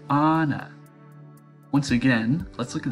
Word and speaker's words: Anna: "I speak to Anna?" I asked, pronouncing her name the American way. "Anna?" the man's voice hesitated. "Oh, you must mean Anna."